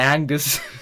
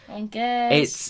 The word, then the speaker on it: Angers: No, I was going to say Angers. Yeah, basically, if you're British, it's Angers. If you actually can pronounce a French word, Angers. it's Angers.